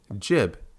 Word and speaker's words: gib: for a fact that he and everyone else at id pronounces it jib, not gib.